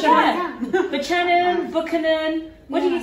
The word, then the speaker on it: Buchanan: Buchanan, Buchanan. What do you say? Buchanan. I'm now on Buchanan. Look, I said Buchanan. Yeah, right. Can we do emphasis on the bu?